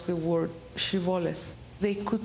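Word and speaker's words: shibboleth: were crossing the river they would request to pronounce the word shivales they could not pronounce it like that and they pronounced it siboles at that point the bible described a huge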